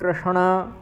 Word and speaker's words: कृष्ण: ठीक है, अभिभवात ऐसा है, अधर्माभिभवात कृष्ण। यहाँ भी कृष्ण जो शब्द है उसमें षकार और णकार का सही उच्चारण करना है आपके लिए।